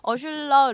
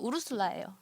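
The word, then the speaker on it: Ursula: 이제 표기 공식 표기상으로는 어슐러 르퀸이라고 되게 유명한 SF 작가예요 근데 실제로 이제 발음 미국에서 발음한 건는 우르슬라요 아 우르슬라 르긴이라고 되게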